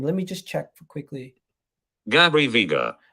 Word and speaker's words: Gabri Veiga: I forget how to pronounce his name. Let me just check quickly. Gabri Veiga. Gabri Veiga.